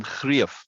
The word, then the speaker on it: Greef: it's the same sound, ear as in eerie, at least the start of eerie.